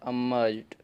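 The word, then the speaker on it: emerged: देखिए यहाँ पर भी जो ई है या ई आपका साइलेंट है। क्यों? क्योंकि मैंने आपको अभी अभी बता रखा था कि जब भी ई और डी ये वर्ड के लास्ट में हो तो आपका ई यहाँ पे साइलेंट होता है।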